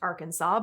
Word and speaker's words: Arkansas: We know Arkansas is pronounced Arkansas, but that wasn't always universally agreed upon. One senator preferred Arkansas in the 1800s until a resolution was passed.